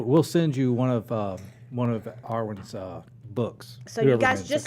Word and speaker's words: Awyn: It's Awyn, okay? So there's Awyn. It's not Awyn, right? Am I getting it right the whole time or not? Have I Yeah, been no, saying you've it? been saying it right. Okay. Awyn Dawn. So you guys don't put an R in there.